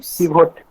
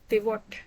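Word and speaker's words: pivot: पिवोट। पिवट, अच्छा सब लोग यही बोलते हैं ज्यादातर, पर पिवट है। खैर अंग्रेज तो इसको पिवट ही बोलते हैं।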